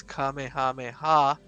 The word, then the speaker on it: Kamehameha: Like the special beam cannon, the famous Kamehameha, and get it right, Lucifer, because I'm telling you this, that's how you say it, right?